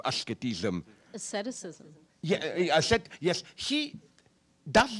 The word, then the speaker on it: asceticism: When he talks about, how do you pronounce it in English? Ascetism, asceticism.